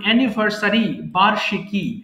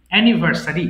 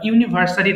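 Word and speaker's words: anniversary: office on time এরপর এনিভার্সারি প্রত্যেকটা জিনিসের আমরা যদি এনিভার্সারি পালন করি বার্ষিকী এক বছর পর পর সেটাকে আমরা বলছি এনিভার্সারি এটা উচ্চারণ হবে এনিভার্সারি ইউনিভার্সিটি না বা ইউনিভার্সারি না এটা হচ্ছে এনি ভার্সারি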